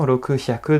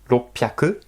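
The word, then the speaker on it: 六百: Attention à la prononciation, roku hyaku devient ropyaku.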